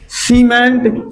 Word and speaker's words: cement: देखो सी के बाद क्या आओ ई, तो सी को उच्चारण का निकलो, सा निकलो ना, सीमेंट।